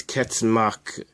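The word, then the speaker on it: 結膜: Conjunctiva in Japanese is ketsumaku. The first symbol is this one, and it's pronounced ket. The second symbol I think it means membrane. It's pronounced maku.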